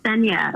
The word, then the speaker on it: Nthenya: name so funny uh my name is cenia like then you're from kenya kenya from okay so the end is silent then yeah okay from kenya